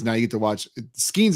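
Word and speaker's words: Skenes: Skeens is how it's pronounced, right?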